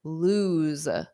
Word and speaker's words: lose: So that's loose, loose. But don't confuse this with the word lose, ooze. So it's that end sound.